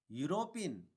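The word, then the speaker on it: European: यह जो लेटर है फर्स्ट लेटर वो वोवल है, लेकिन इसका जो प्रोनाउंसिएशन है, इसका जो साउंड है वो य से चालू हो रहा, व्यंजन से चालू हो रहा। यह व्यंजन से स्टार्ट होता है, हो रहा यूरोपियन, यू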